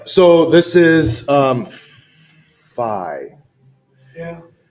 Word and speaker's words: phi: All right, so this is phi. Yeah. It does get pronounced both ways, but in mathematics, I believe it is pronounced phi most of the time.